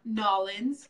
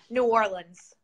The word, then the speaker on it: New Orleans: She is from Nolens. Did I say that right? No. No. How do you say it? New Orleans. New Orleans. Yeah. Not New Orleans? No. Okay. Never. All right, got it. Never. Not Nolens. That's how.